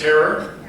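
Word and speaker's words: Herer: Is that how you spell it? I mean, I've read it for years, but it's Harrer? Yes, Harrer, that's yeah, yeah.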